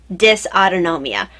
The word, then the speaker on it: dysautonomia: me awareness what is dis autonomia um first of all you look at your like how the heck do I pronounce that it's dys a uto and om IA dis autonomia basically the autonomic nervous